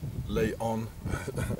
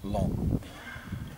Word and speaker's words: Laon: school of long long they don't pronounce the O it is not lay on it's long and this is a cathedral